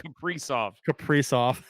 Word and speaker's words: Kaprizov: Kiprusoff, Jesus Christ, Kaprizov. And what's the difference? I put the wrong emphasis on the wrong syllable.